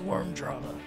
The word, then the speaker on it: Vvurm Drama: in the name that's still pronounced with a W you Philistine that is worm drama was spilled by someone